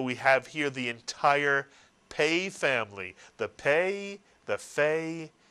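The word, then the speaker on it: פ: How is the pei pronounced then? F is correct, and so we call it a fei. It's really a pei that makes an F sound.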